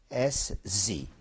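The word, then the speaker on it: Podgórze: It's Podgórz, Podgórz.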